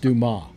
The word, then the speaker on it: Dumas: It's pronounced, by the way, it's pronounced Dumas.